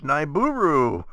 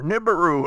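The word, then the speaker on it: Nibiru: Don't forget Planet X, Niburu, or Nibberu, however you want to pronounce it.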